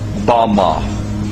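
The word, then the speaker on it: במה: which Satan fell is Strong's Hebrew word 116 pronounced Bama Bama is most commonly used to refer to a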